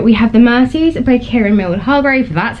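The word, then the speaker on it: Kiran Millwood: So we have The Mercies by Kieran Mildhall, that's how you say her name.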